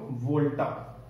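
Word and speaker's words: Volta: E double S ए एन डी आरओ अलेक्जेंड्रो वोल्टा ठीक है जैसे वोल्टास का इनवर्टर आता ना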